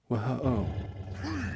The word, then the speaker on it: who: All of a sudden, you're not pronouncing W with a W sound. You're just kind of ignoring it and saying H sound.